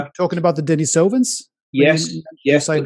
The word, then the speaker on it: Denisovans: Well, as you've already alluded to, there were a people there called the Denisovans. That is the correct pronunciation, by the way.